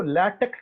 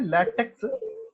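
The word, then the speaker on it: LaTeX: काफी सारे पब्लिशर्स जो है जिसको लैटेक्स कहते हैं, लिखते हैं लैटेक्स, जिसके उसे प्रोनाउंस करना है लैटेक।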